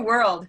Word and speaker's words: world: it changes a lot it's not just one syllable anymore it's kind of more than one syllable that's the first thing i'll say yeah so let's listen to it world world world who hears two syllables anybody world i'll try to do this without changing my tone world world now i sound like a robot but can you hear the two syllables world contrast it with